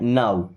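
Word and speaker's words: now: rule को भी follow नहीं करते जैसे एन ओ डब्ल्यू इसे नो नहीं पढ़ते क्या पढ़ते हैं नाउ एच ओ डब्ल्यू हाउ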